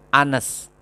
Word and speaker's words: honest: Tapi kenapa pakai an? Kenapa? Karena dibacanya honest, an honest girl, seorang gadis yang jujur.